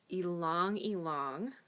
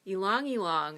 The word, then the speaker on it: ylang-ylang: essential oils it's called a long e long you can see that very well you long you long it's that funny name y la ng y la ng and